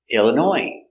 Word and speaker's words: Illinois: is a city in Illinois Illinois comes from French too so we have a silent s in French words they have S at the end it's silent so Chicago Illinois not Illinois no s